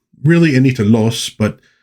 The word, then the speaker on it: Loos: book written by Anita Loose. Really, Anita Los, but apparently everybody just pronounced it loose and so she decided just to go along with it and not fight.